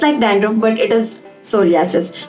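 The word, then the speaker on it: psoriasis: And second one इज सोरियासिस। ये scalp का भी सोरियासिस होता है, सो पी इज साइलेंट।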